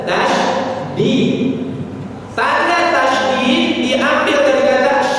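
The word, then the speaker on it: تشديد: Tasjid itu artinya sujud. Yang benar tasydid.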